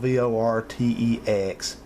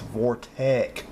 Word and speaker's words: Vortech: this add up here it's not vor TX it's Vortech vor Tec 97 Altima